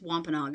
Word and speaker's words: Wampanoag: the native americans the wampanoag wampanoag i think said i think it's wampanoag it's how you pronounce it they brought stuff to